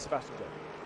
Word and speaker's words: Sebastian Job: Because obviously it's just J-O-B, and so a lot of people are just like, well, surely it's Sebastian Job. You're saying his name wrong, Sebastian Job. I'm like, he says Sebastian Job.